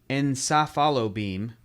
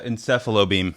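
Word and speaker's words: Encephalo-beam: ] once used his enza follow beam wait how do you pronounce that word right there uh encephalobeam thank you he once used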